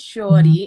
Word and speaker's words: Sure-D: that they show well my name is shiori and it's spelled s-u-r-e-d so it is a play on words so from a petite statue as well as short form for surely destined so i've been doing